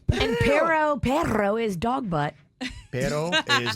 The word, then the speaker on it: pero: Pero, I always thought meant dog. No, but, well, pero with 2 R's is dog. P-E-R-O is butt. How would I say dog then?